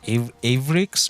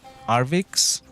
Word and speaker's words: Arvix: By the way, I realized when making that video, I was pronouncing his name wrong. For some reason, I used to think his name was Avrix, not Arvix.